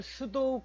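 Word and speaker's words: pseudo: 가상 클래스 자 영어로는 수도 클래스 라고 해요 발음이 조금 어려운데 수도 웁 피가 묵음 이 줘 수도 라는게 가짜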